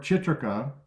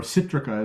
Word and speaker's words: Chitrika: So therefore, Chitrika, or Citrica as the Tibetans like to pronounce it, Chitrika was actually an herb from South India called Zeylanica plumbago.